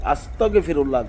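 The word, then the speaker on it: أستغفر الله: এটার শুদ্ধ উচ্চারণ হলো আস্তাগফিরুল্লাহ। গ মাতাতে হবে আপনাকে।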